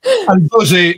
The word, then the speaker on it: al gosè: Gosen? Il gosen. La pronuncia. Al gosè, cioè l'animale con il gozzo, e va benissimo.